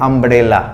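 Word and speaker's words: umbrella: इसके पहले ए लगता, लेकिन यहां पे यू का प्रोनाउंसिएशन अ होता है यानी अम्ब्रेला लगा रहे हैं तो यहां हम यूज करेंगे एन का।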